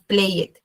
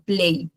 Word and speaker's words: played: Entonces, es muy importante tener en cuenta que la pronunciación no va a ser, digamos, play it, sino que la mayoría de veces no se pronuncia la e. Sí. Acá en este caso, por ejemplo, yo digo played, ¿sí? Y acá worked. Sí, como que suena la k y no la e, pero sí suena la d.